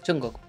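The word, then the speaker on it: 중국: Ahora, China para mí es Chungguk. Porque es en coreano, vaya.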